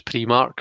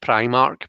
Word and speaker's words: Primark: spread for jackie we'll instance about how i pronounce pre-mark so i know that it's meant to be pronounced primark but i've always called it um and i